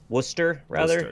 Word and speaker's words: Worcester: Wolski in my chat wants me to tell you that it's pronounced Worcester, and it's Some Kind of Wonderful is Grand Funk Railroad.